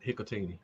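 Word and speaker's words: Hikutini: That's it, Hikatini.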